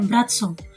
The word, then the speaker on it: Braco: Ya memang guys, tulisannya Bratso tapi kita tetap bacanya Bratso.